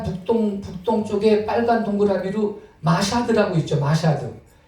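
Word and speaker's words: Mashhad: 마샤드. 그 영어 발음으로 메슈하드 이러는데 메슈하드. 근데 그냥 이 글자들을 읽으면 마사드라고 뭐 읽을 수가 있는데, 자 여기에 해당된다는 거예요.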